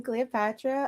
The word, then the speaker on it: Cleoxpatra: You know, I'm Cleopatra. um online. I'm Cleo, but the X is silent.